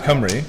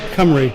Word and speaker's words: Cymru: Oh, so if you want to pronounce Cymru, yeah, it's called Cymru.